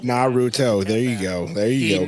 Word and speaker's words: Naruto: Naruto? Naruto.